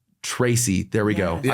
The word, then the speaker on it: Tracey: I'm going to say Tracey. There we go. Yes. I said Stacy earlier and I keep on saying it wrong in my head.